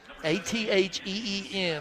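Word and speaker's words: Acin: Athene, Atheen is how you pronounce it.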